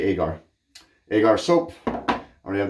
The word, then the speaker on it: Agar: I had to go to Google pronunciation, Google Translate, Google pronunciation, Google says whatever it's called. And as they put it, it's agar wood. So I'm going to say Agar.